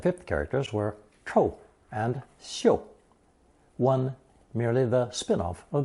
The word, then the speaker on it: 嗅: The second, more elevated pronunciation of chòu is xiu in the phrase 无嗅 for odorless.